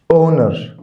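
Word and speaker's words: honor: الايه الشيء ريستور ريستور اونر اونر كلمه اونر معناها يكرم او يحيي كلمه اونر معناها يكرم او يحيي طبعا هنا الاتش سايلنت الاتش هنا سايلنت جلورس جلورياس معناها عظيم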